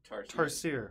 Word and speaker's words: Tarsier: It's not French. So it is Tarsier. Tarsier.